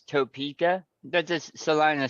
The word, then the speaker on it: Salina: lived in Kansas no one ever called it Selena it's one of those oh how is it pronounced it's one of those Italian joints it's Salina oh Salina okay well which I would have